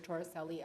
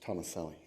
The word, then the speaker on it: Tomaselli: The reason I didn't come is because it's pronounced Tomaselli, but that's all right. It's not the first time my name has been mispronounced.